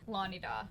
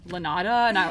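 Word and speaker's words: Lonidaw: How do you say the name of the lake? Lanida. Okay, Lake Lanida. So I was totally saying Lanada or something.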